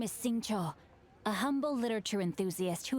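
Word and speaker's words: Xingqiu: My name is Sing Cho, a humble literature enthusiast who happened to be passing by. Wait, it's pronounced Sing Cho? I thought Sing Ki.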